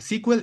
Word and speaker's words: SQL: Sequel es la producción, la pronunciación correcta, sequel y no sequel.